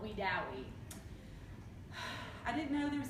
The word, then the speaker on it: Wedowee: And I have heard Wedowee, Alabama, pronounced Wedowee by some, but it's actually Wedowee.